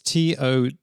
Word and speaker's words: Tolle: Tolle. Is it Tolle? Have you got that right? It's Tolle. So how you pronounce that? It's German, don't forget.